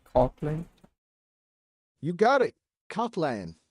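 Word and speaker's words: Kotlin: Cotlin. You got it. Coplan. It's pronounced co man it's cotlin like co as in cola cotland it's becoming languish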